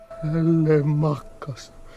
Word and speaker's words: Telemachus: Telemachus.